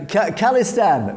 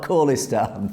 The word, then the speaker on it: Khalistan: Hat B says, oh yeah, khalistan, we're saying it correctly. It's not khalistan. God knows where they got that from. I think the general consensus said, James, it is khalistan, not khalistan.